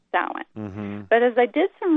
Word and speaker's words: Samhain: And I have to confess that in years past, I have made reference to the Samhain word, Samhain, properly pronounced, as the pagan.